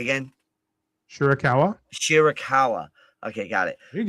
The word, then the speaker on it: Shida Hikaru: Shida Hikaru.